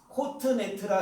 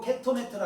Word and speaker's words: 케토네트: 코트네트라 해도 되고 케토네트라 해도 돼요. 카트네트라 해도 되고.